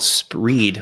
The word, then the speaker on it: Spreed: one is really cool it's an extension called spreed which is tough to say so I'm going to spell it also SP P re e e d